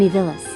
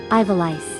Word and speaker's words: Ivalice: Final Fantasy XII is in Evilis. Elise. No, hold on. Ivalice. It probably pronounced it like Evilice.